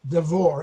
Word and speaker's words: Devor: Jonathan D'vour. Am I pronouncing it correctly?